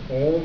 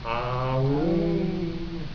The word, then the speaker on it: Aum: So, but the thing is, those who simply chant Om as in Om Mani Padme Hum, they've only got the one syllable, and it is a two syllable. Aum. So Om is incomplete.